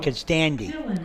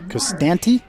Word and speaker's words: Costanti: Well, you said it's pronounced Constandi. Costanti? Costandi? Dad just said D. Well, I'll show you. Is that your reading? It's pronounced Costanti. Costanti. Costanti. All right. COST-anti. Okay, like Annie up.